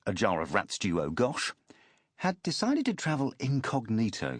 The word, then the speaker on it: Ajit Chaturu Agash: A fakir by trade, Ajit Chaturu Agash, pronounced a jar of rats duo Gosh, had decided to travel incognito for his first trip to Europe.